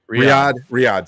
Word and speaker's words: Riyadh: Riyadh, sorry.